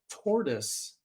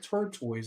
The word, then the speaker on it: tortoise: for it's really good but I sold a tortoise glass cup it looks like a cheetah print I was calling it turtoise and I was getting bombarded with being corrected